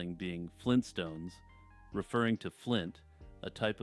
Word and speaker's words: Flintstone: I would argue that Flynn stone is a perfectly acceptable way to pronounce Flintstone and that many people do it unknowingly while speaking fast and casually Tupac Shakur is alive